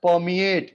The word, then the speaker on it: permeate: अब आप नोट कीजिए, जब मैंने बोला आपको permeate, मैंने रॉ का उच्चारण नहीं किया. permeate, रॉ साइलेंट है.